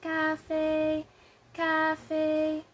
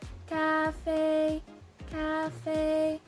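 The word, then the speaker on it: 咖啡: So the translation or Mandarin term for coffee is cafe, cafe. So as you can see, both syllables have the first tone. So we're gonna sound like ah, ah. So we're gonna pronounce it as cafe, cafe.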